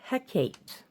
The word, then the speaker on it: Hecate: And this is Hecate.